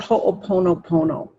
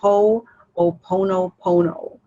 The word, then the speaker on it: Ho'oponopono: There's a lot of YouTubes on Ho'oponopono. Can you spell that, please? Yeah, H-O, and then an apostrophe, O-P, P-O-N-O-P-O-N-O, Ho'oponopono. Kind of just like it sounds.